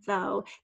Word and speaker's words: though: Although, same thing, A-L at the beginning, and then that kind of tough word is spelled though, T-H-O-U-G-H, silent G-H there.